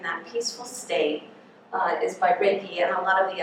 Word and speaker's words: Reiki: It's pronounced Reiki. Sometimes patients say to me, I'm ready for that Reiki treatment. So I tell them it's Reiki. It's like the rays of the sun and the keys to healing. So it's a good way to remember how to pronounce it.